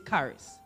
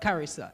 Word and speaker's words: Karis: She will tell you, don't call, my name is Karis, not Carissa. It's a K, not a C, and everything else.